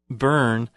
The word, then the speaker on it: Byrne: here this author Rhonda Byrne and then spelled bee why are any but it's pronounced like burn I've I'm not sure